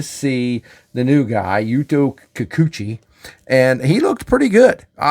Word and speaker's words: Kikuchi: Kikuchi, pardon me as I begin to learn how to pronounce that name, anointed by Daisuke Harada, the